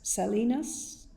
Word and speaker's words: salinas: our land, aquifers, rivers and sea, saline lakes, salinas, is that how you pronounce that?